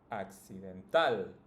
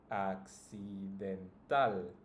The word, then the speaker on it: accidental: case it would be accidental accidental then additional addition n then okay and that is a pattern that's it you just need to pronounce the last one the strongest the last syllable in this case it's